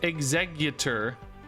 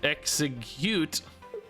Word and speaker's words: Exeggutor: You guys say it's executor. Is how you want me to pronounce it. Surely you don't pronounce it execute.